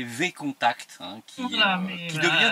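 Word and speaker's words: VKontakte: et ça devient catastrophique alors on prononce contact mais c'est enfin à la française c'est V contact hein qui voà qui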